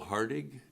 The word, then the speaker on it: Hartig: I believe it's hardig did I say that correctly you did thank you and for Colina would you spell that please for yes my name is Hartig it last name is